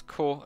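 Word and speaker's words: コ: You pronounce this as Ko like cola.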